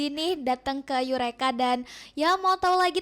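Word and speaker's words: Eureka: juga di situ Itu ada namanya yureka yureka Nah itu pengejaannya e u r e k a.lpg nah instagram-nya boleh dilihat-lihat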